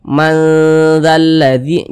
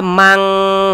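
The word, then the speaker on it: من ذا الذي: nah Anggaplah 5050 begitu Jadi kita baca manzalladzi Jangan dibaca mang mang jangan tapi tapi kita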